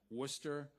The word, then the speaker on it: Worcester: Madeline is going to be attending, and I'm going to say it correctly this time, Worcester Polytechnical Institute.